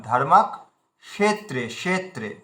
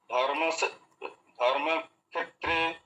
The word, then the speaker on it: ধর্মক্ষেত্রে: সঞ্জয় দৃষ্টতু পান্ডবাসতদা এই দেখুন ধর্মত্রে এই উচ্চারণটা কালকেও আপনার ভুল হচ্ছিল কষেত্রে মূর্ধা সয় উচ্চারণ করতে আরো ভার আরো ভারি করেন আরো ভারি করেন ধর্মাকত্রে দন্তসের উচ্চারণ হয়ে যাচ্ছেত্রে হয়ে যাচ্ছেত্রে ধর্ম ধর্ম ধর্ম কষেত্রে ধর্মক্ষেত্রে কুরুক্ষেত্রে এভাবে বলুন ধর্মত্রে কুরুক্ষেত্রে হ্যা